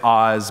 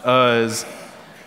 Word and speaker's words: Uz: I really want to say Oz, but it's not Oz. Uz, whose name was Job.